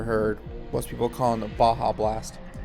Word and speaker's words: Baja: I'm like, is there an O in the pronunciation of the name? Like, where do you get Bajio? My favorite one is Beja or Baja. People don't know. People putting the J in the middle of Baja.